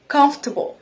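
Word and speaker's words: comfortable: كومفورتبل وشز مش اصحا ايه الصح قول لنا الكلمه دي بتتنطق كفتبل كفتبل يا جماعه كفتب كفتب كفتب تشير ازري كفتبل دي تاني كلمه معانا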